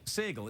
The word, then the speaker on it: Sagal: Sagal, it's Sagal, isn't it?